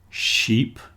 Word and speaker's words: sheep: Sheep is the animal with a shh at the beginning and a long e.